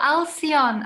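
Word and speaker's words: Alcyone: if you can say that word again oh alcion alcion yes yes yes yes yeah so i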